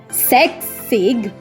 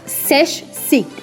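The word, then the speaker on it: sechzig: So beware of the pronunciation here. It's not Sexig, it's Seshsig.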